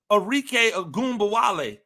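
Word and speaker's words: Arike Ogunbowale: it wasn't debated at nauseum on first take arque agba W that is how you pronounce her name it it was arque agumba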